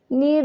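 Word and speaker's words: knead: नीड द ड ड नीड में के जो है य साइलेंट हो जाएगा ठीक है नीड कहते हैं गूंदने को ठीक है और के साइलेंट हो जाएगा य नीड पढ़ जाएगा नीड एन डडी नीट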